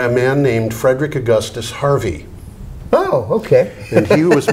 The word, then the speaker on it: Hervey: of the name from H-E-R-V-E-Y, like Hervey Scudder. Yeah, yeah. Because it's Harvey, and that's how they pronounce it.